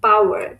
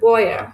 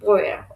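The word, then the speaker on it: Bauer: দেন বাওয়ার, কৃষক, সরি বয়ার, বয়ার অয়ের মতো উচ্চারণ হবে, বয়ার কৃষক, কৃষক বয়ারিন।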